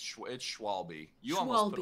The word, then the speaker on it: Schwalbe: I always want to say Schwalabi because it sounds like so awesome. Is that really how you say your name, Schwalabi? You're close. Yeah, it's Schwalbe.